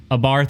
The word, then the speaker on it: Abarth: dodge ram mopar fiat abarth or a barth depending on you know how you pronounce it maserati abarth alfa romeo